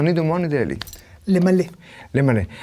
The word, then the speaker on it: למלא: למלא. למלא. Alors, il y a des Israéliens qui parlent aussi mal, et ils prononcent mal ce verbe. למלות. Ils disent les malotes, voilà.